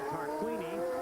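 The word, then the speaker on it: Tarquini: running the entire 80 laps there you see tar Queeny being shown the blue flag meaning you got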